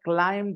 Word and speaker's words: climbed: B is silent. Climbed.